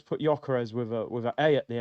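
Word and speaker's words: Gyökeres: I heard Gokeres. I heard Yorkeres. I said, what? Dwight York? We got the Trinidad brother. Ain't it just Victor Jokeres? I thought we all knew fundamentally how to say this guy's name, Victor Jokeres. I heard man calling him Gokeres, Yorkeres.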